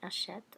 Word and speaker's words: achète: So when I take it down to two syllables, taking off the endings entirely, achète, achète, achète, achète, d'accord?